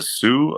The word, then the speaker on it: Sioux: um my uncle he was uh from the Sioux I think it's how you pronounced it try he was Native American uh